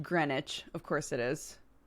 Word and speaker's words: Greenwich: we can start off with a big bang pronounced Greenwich of course it is it's like Flitwick is